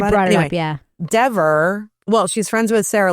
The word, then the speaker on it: Dever: You better not pronounce it wrong. It's Dever.